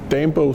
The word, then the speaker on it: Dambo: My name is Thomas Dambo. It's Thomas with an H, and then it's Dambo spelled D-A-M-B-O. It's like the action hero Rambo, but with a D as in Dennis.